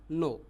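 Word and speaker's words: non: फिर यदि आपको नो बोलना हो तो फ्रेंच में स्पेलिंग अलग है। एन ओ एन है। बाकी प्रोनाउंस वही रहेगा। नो।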